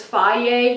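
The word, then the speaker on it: Fage: My favorite is Faye yogurt.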